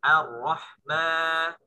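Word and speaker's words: الرحمن: Tinggal ma-nya dilatih juga. Ma-nya tipis. Ar-Rahman. Ar-Rahmani. Ar-Rahmani. Ar-Rahma. Bukan Ar-Rahma. Bukan mo, tapi ma. Bukan mo. Kayak suara sapi. Mo. Gitu ya. Tapi ma. Nah, tipis ya. Tipis. Ma.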